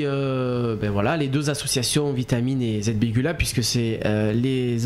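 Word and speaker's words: Vietamine: c'est l'association vitamine l'association comme ça se prononce vitamine V I e t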